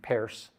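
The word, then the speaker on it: Peirce: and the pragmatists like charles pierce who pronounced his name paris the professor and inventor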